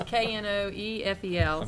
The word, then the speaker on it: Knoefel: If there's any confusion, it's Knoefel.